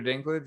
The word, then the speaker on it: Dinklage: Am I saying that wrong? Is there a proper way to say that? We're good. No, you said Dinklage exactly right.